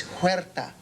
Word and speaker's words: Huerta: No, it's Huerta. Ricardo Huerta. Oh, yeah, no, it's spelled like Huerto, but I couldn't be right because it sounds too much like weirdo.